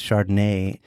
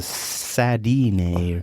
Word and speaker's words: Chardonnay: No, you're pronouncing it incorrectly. It's a Chardonnay. It's a Chardonnay. It just has like Chardonnay. Yeah, come on. Yeah, it's like it's not sadness; it's Chardayness.